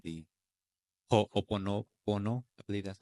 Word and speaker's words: Ho'oponopono: which is called the Ho'oponopono. I believe that's how you say it. Oponopono. Ho'oponopono. Oh, the H is silent.